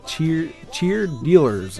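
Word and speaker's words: Cheerdealers: Distrust is by Cheer Dealers. I want to say leaders, but it's Cheer Dealers.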